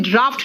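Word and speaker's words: draught: जी एच T pronunciation ड्राफ्ट निकल रहा है भाई एफ कहां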